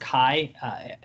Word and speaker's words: CAI: I was worried about them offensively, and Brownie has really stepped up after transferring from CAI, I think it's pronounced Kai, in Panama.